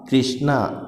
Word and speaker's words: कृष्णा: क्या होगा उसका, कृपा, कृष्णा, दृष्टि। समझ में आ रहा है, री का साउंड आ रहा है तो तीनों में क्या हो रहा है, री का उच्चारण हो रहा है, रिवाज में नहीं हो रहा है।